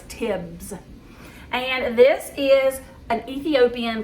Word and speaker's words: tibs: All right, so the dish that we're going to be making today is called beef TIBS. I wanted to call it tips. It's not, it's TIBS.